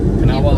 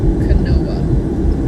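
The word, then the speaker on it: Kanawha: It says uh Canawa, that's how you say it. All right, perfect. Thank you. Yeah, it says people who don't go there usually pronounce it canoa, but then people who are there say it's Kawa, not a beast.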